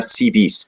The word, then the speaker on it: Seabees: S pequeña al final, al pronunciarlos en inglés suena Sea Bees, que se puede traducir como abejas marinas o abejas del mar.